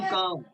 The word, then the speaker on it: calm: सर यहाँ पे कैम down पढ़ेंगे सर। काम काम, CA आई है ना हाँ सर वो कैम हाँ, आई नहीं है, एल है, एल साइलेंट है। कैम CALM, काम।